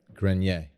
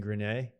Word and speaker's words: Grenier: would have said i i always say green yay and i'm not saying that's the way to do it that's just how it comes out of my mouth i believe it's grenier but i he laughed